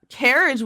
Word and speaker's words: Carriage: Carriage Wen with a hard C like in cake.